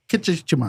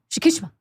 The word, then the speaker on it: Shikishima: Was someone- it was- Kichikima. I'm not even going to Shikishima. bother. Kichikima. Not even going to bother. Not even going to try. Shikishima. Okay. Shikishima.